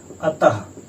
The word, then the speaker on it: अतः: आप उच्चारण करते हैं, विसर्ग के उच्चारण में जो है लास्ट में आखिरी में जो हा की ध्वनि आती है, हा की ध्वनि। अब हम आपको इसका उदाहरण भी बता दें। जैसे देखिए अतः, अतः का आप उच्चारण कीजिए, इसमें देखिए आप हा की ध्वनि लास्ट में आएगी, अतः।